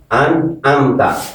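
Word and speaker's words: أَنْعَمْتَ: Salah salah salah salah an amta ini yang an amta ini kalau dibaca an amta alif semua ini hurufnya dirubah alif lagi an amta ini ain anamta Alaihim.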